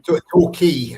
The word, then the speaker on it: Torquay: Torquay, as in key, like the Florida Keys. That's how you pronounce it.